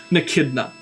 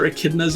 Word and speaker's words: Echidna: But for the moment, let's get back onto Echidna. A lot of silent letters in that name.